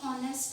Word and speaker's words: honest: जैसे अगर suppose HONEST, ऑनेस्ट है, तो हम इसको हॉनेस्टिटी करते हैं, हम एच साइलेंट होता है उसमें, तो हम क्या यूज़ करते हैं, क्या रीड करते हैं, उसको प्रोनाउंसिएशन क्या करते हैं, ऑनेस्ट, तो उसके साथ एच।